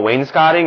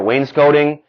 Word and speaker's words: wainscoting: here in the basement was uh was this what we call wainscotting or wainscoting depending on how you want to pronounce announce it and it's basically